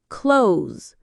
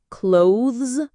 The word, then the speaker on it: clothes: Number 10, clothes. Some learners say clothes with a clear th, but most native speakers say clothes.